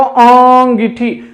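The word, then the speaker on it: अँगीठी: तो देखिए अंगीठी में जो है ये अनुस्वार नहीं लगता, बल्कि देखिए अगर बोलकर देखेंगे आप तो इसका उच्चारण जो है वो अंगीठी, मतलब चंद्र बिंदु के रूप में उच्चारण होता है, तो इसलिए ये अंगीठी लिखा जाना चाहिए, ना कि अंगीठी।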